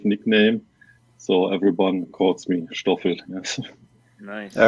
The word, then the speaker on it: Stoffel: Stoffel, can you hear us? And also, did I pronounce that correctly? Yeah, it's I can hear you. It's fine. Yes, and yeah, Stoffel is my name, kind of nickname.